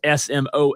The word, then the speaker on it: Smoak: Even though it's spelled differently, it still sounds like smoke, right? Because it's still pronounced smoke.